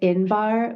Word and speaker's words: Inbar: am so so excited to introduce you to inbar Madar inbar is a seasoned consultant with over a decade of leadership and business strategy experience with a profound dedication to empowerment education and strategic guidance inbar strives to redefine the landscape of Entrepreneurship she